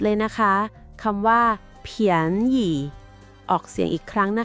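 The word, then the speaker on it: 便宜: คำ ที่ 7 เลย นะ คะ คำ ว่า เียน หยี่ ออก เสียง อีก ครั้ง นะ คะ เียน หยี่ แปล ว่า ถูก หรือ ราคา ถูก ผม ชอบ คำ นี้ ที่ สุด เผียน อี่ อีก ที นะ เผียน อิ แปล ว่า ราคา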